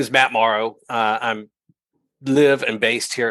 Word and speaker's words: Morrow: No, it's Morrow, like okay. tomorrow.